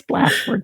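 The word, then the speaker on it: Blachford: Yeah, it's Blashford with CH, Blashford.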